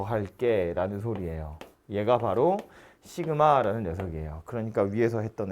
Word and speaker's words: 시그마: 뭐냐 하면 요렇게 쓰고요 읽을 때 시그마 라고 읽어요 시그마 케이가 1 에서